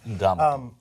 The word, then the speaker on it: Ndamukong: Ndamukong. Well, in trying to, like it's spelled.